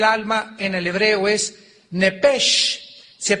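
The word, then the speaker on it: נֶפֶשׁ: en el hebreo es nepesh, se pronuncia nepej, la CH en hebreo se pronuncia como J, nepesh, murió.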